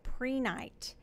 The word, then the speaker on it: prehnite: I'm introducing to you today a crystal called prehnite it is spelled p r e h ni te sometimes